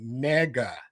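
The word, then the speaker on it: 네가: But then but in Korea there's a word like how we say you in Korea you pronounce it nega nega ne g a ne ga.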